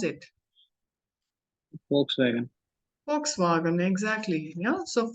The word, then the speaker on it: Volkswagen: you just pronounce it Volkswagen Volkswagen exactly you know so folks see the sound of it is V but in German how do we read we foul wow so